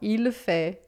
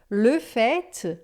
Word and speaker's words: fait: Agora, le fait, a gente diz o t final, quando é o fato. Se for de fato, en fait, a gente também diz o t final, tá? Então, no verbo a gente não diz, il fait, elle fait, il fait beau, elle fait des études, por exemplo, ou, é, le fait, aí sim eu digo t, o fato, en fait, de fato.